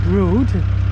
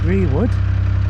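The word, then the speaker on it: Brewood: So, I've got a short run today to uh somewhere called Brood. It's spelled B R E W O D as in Breewood, but apparently uh the locals call it Brood and there's some shops there.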